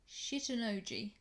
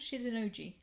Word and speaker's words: Shitennoji: The first place we went to is a temple called Shitennoji. I'm not kidding, that's how I think you pronounce that word.